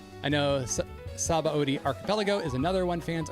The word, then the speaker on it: Sabaody: I know Sabaody Archipelago is another one fans are divisive on. You just say Sabaody just because that's how they say it in the Japanese.